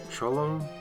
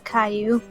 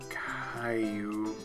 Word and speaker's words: Caillou: He's like Cholo? What's his name? He's Caillou. Caillou. Which is spelled really weirdly.